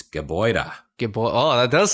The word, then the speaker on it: Gebäude: Gebäude. You got that really breathy H sound at the end.